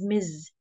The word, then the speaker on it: Ms: which is Miz and we pronounce it as Miz okay example Mizan doesn't